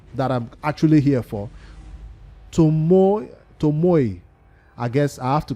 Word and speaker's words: Tomoe: Shadow King faction, and you have to always add that Asian intuition into this pronunciation when you say the name. Tomoe.